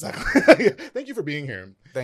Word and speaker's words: Sutcliff: It's Sutcliff.